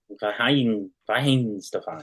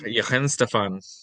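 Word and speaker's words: Weihenstephan: I looked up before how to pronounce that properly. Vahin Stefan. Yi Henstefan, Yes.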